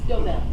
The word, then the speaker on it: DeVille: And the first call we have is DeVille, or How do I pronounce that? DeVille.